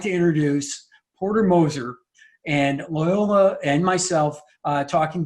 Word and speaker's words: Moser: It's Moser, not Mosier. You know who you are. I had to start you know who you are. So was that the Polish version? Is that the Moser? There's just so many worse things that rhymes with Mosier.